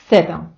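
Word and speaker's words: zeta: - це назва літери схожо звукву українській мові немає тому давайте вчитися її вимовляти спробуйте з плоским язиком між зубами на видиху сказати будь-яку голосну са со суу давайте разом голос з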